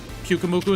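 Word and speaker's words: Pyukumuku: Pukamuku is Pukamuku.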